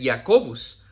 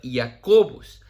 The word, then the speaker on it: Jacobus: Obviamente en el latín se pronuncia Jacobus, ¿verdad? Jacobus.